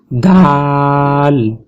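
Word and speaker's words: دال: করে পড়ি দাল দাল জিহ্বার আগা জিহ্বার আগাটি সামনের যে দুইটা দাঁত আছে উপরের উপরের দুই দাঁতের গোড়ার সাথে লাগবে আমরা এই চিত্রটি একটু ভালো করে দেখি এটি দেখে আমরা ভালো করে উচ্চারণ করব দাল দাল আমাদের দুটা দাঁত উপরের দাঁত এবং নিচের দাঁত একসাথে লাগবে না এবং ঠোঁট একসাথে লাগবে না ফাঁকা থাকবে তারপর আমরা দালটি উচ্চারণ করতে পারবো তো এরপর আমরা দালের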